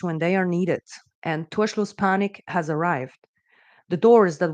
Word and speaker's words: Torschlusspanik: It is Torschlusspanik, pronounced Torschlusspanik. I'm German native speaker.